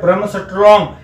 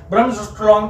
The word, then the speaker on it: Bremsstrahlung: भी दिया गया है जिसको बोला जाता है ब्रह्मस्ट्रॉन्ग। ब्रह्मस्ट्रॉन्ग की स्पेलिंग है BREMSSTRAHLUNG।